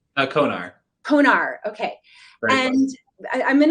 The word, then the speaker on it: Konar: Konar.